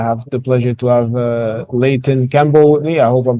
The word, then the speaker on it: Leighton Campbell: Today, I have the pleasure to have Leighton Campbell with me. I hope I'm pronouncing your name right.